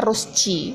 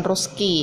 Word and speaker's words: Rose C: Nah, C-nya rose ini, jadi rose C ini ya, kita membacanya rosci, bukan roski ya.